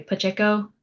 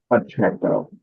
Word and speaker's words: Pacheco: Um we have water equity manager Pache. Oh sorry PCO. How do I how do you say your name? Pacheco. Pacheco. Okay. Sorry.